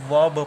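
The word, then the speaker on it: verb: वर्ब पढ़ेंगे। इसको क्या पढ़ेंगे? वर्ब। यहाँ आर का प्रोनाउंसिएशन नहीं किया जाएगा, और जबकि यहाँ पर आर का प्रोनाउंसिएशन किया जा रहा है।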